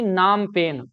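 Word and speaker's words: Phnom Penh: पर कंबोडिया की राजधानी नाम पेन पीएच साइलेंट होता है है ना पी एच एन ओ एम ऐसा पीएच पीई एन एच ऐसा नाम नाम है कंबोडिया की राजधानी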